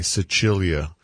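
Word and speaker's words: Sicilia: that for you because I pronounce it like the Italian version but it's si CI Li a Cecilia or Cecilia or Sicily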